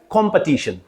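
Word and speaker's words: competition: you will pronounce this word it will be pronounce as कंपटीशन कंपटीशन नॉट कंपटीशन इट इज कंपटीशन कंपटीशन बेटा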